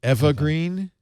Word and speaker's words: Eva Green: called nightfall hello hello Eva my name is evergreen ever sorry wait a minute wait a minute it's pronounced evergreen oh no Angie I had no idea evergreen she's one of